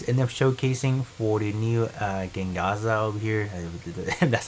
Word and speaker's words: Gengaozo: But other than that, I think that is enough showcasing for the new Gengaza over here. That's how you pronounce it.